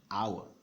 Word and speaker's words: hour: a hour is because this H is silent it's not part of